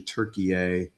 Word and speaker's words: Türkiye: Nations and they say the proper way to say Turkey is actually Turkey A and we want that